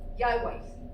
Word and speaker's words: Yahweh: Yahweh. That's the pronunciation.